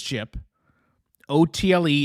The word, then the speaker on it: Chipotle: It's chipot. It it's literally it's spelled chip and then auto. Chip is chip. O TL E is auto like Aristotle. So it it's chip chip. Chipotle.